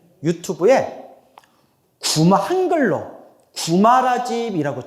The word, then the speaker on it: 구마라집: 길에 구자국이라는 나라에서 태어나셨는데 산스크리트 원래 발음으로 따라해 보세요. 쿠마라지바 쿠마라지바 비읍으로도 발음하고 이음으로도 발음해요. 쿠마라지바 쿠마라지바 그러니까 뭐로 발음한게 정확해요? 집으로 발음하게 가자. 시 발음보다 무슨 발음에 더 가까워요? 지발음. 쿠마라지바. 쿠마라지바. 왜? 그러니까 지읍 발음이 더 씨발음은 없잖아요. 구마라집이라고 어 우리가 발음하는게 더 정확한 발음이라는 거예요.